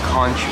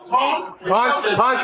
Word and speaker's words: Conch: You gotta say it right first, sir. Conch Republic. Conch.